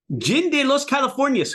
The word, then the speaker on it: Gin de Las Californias: in a in a um be Adel Martinez jind de los California because you taught me how to say it